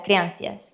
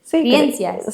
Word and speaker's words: creencias: Pero empezamos con las supersticiones y la las creancias. Sí. Bueno, no se dice así. Creencias, sí, su creencias, supersticiones, tipo la escalera, todo esto.